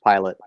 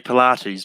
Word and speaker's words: Pilate: pontius pilate in the last temptation of christ pilate yeah i i i knew i was about to i was pronouncing it vlog middle and so i said